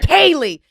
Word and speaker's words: Callie: And today, baby, we got Kelly and we got Callie. Am I saying that right? Callie. Callie. Kay phonetically.